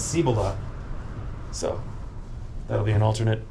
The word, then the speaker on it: Cibola: pyramid peaks and uh what is it cibola cibola it is pronounced by the locals as cibola so that'll be an